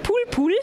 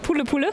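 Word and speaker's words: Poule Poule: Du hast mir schon verraten, wie es ausgesprochen wird, nämlich Pool-Pool und nicht Pulle-Pulle. Nicht Pulle-Pulle, Pool-Pool, richtig.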